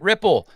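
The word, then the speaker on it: Wripple: out to our sponsor wri i p e we pronounce it Ripple their marketings on demand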